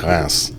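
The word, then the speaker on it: Reims: So the pronunciation of the word is actually Ras. It's nowhere close to reams. The way the French pronounce it is Ras.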